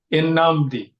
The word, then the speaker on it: Nnamdi: And I think he said Nnamdi, and I was Th- like, That's actually correct. "It is." Because it's Igbo, so it's a Nigerian name.